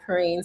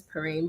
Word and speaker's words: Perrean: Dr. Perrean. It's Perrine, but it's fine.